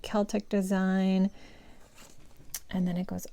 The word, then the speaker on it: Celtic: Celtic or Celtic? I think I'm supposed to say Celtic.